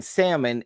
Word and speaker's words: salmon: The L in salmon is generally considered silent in standard English.